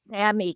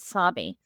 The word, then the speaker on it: Sami: So these are members of Sammy culture and I and I I should pronounce it Sami.